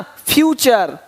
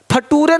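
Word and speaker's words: future: यहाँ पे देखिए क्या दिया है, कल्चर, पिक्चर, है ना, फ्यूचर। फटूरे नहीं बोलना कि देखो भाई ऐसा नेटर है तुम्हारा कि फटूरे खराब हो रहा है, नहीं, नेचर फ्यूचर।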